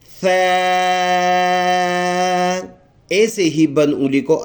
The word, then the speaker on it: ثا: اس کے تلفظ کرتے ہوئے ہم نے زبان کو سامنے کے جو دانت ہے اس کے سروں کے ساتھ لگانا ہے تاکہ ہم اس کو نرم اور آسانی سے پڑھ سکے.